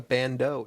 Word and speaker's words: bandeau: think if scott knows what a bandeau is i don't know am i pronouncing that right yes and you spelled it